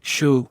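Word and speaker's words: 嘘: The 6 sounds are Su, pronounced like shu with a deep sigh, which is associated with the liver.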